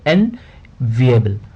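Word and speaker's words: enviable: ये एक नाउन होती है, और इसको हम प्रोनाउंस किस तरीके से करेंगे, एनविएबल।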